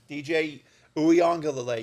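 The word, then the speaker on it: DJ Uiagalelei: But, I mean, look, you have a new quarterback this year in DJ Uyongalele. Yes, I learned to pronounce the name.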